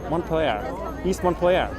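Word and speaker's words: Montpelier: east montenegro in vermont montpellier one player sounds like a french word that i mispronouncing but it's in vermont so it's montpellier montpellier all right i'm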